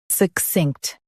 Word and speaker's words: succinct: succinct Now, read the syllables shown on the screen naturally. suh k-sinkt, succinct Stress k-s-i and keep -inkt quick.